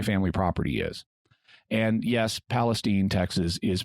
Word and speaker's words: Palestine: near where my family property is and yes Palestine Texas is pronounced Palestine that lasted for about two years Vernon also